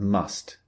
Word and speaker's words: must: We don't usually, in spoken English, pronounce the T at the end of must. We don't often say, I must say.